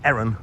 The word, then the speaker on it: Heron: As we leave Asda behind, we've got a Heron, or as it's pronounced locally, an Eron Foods.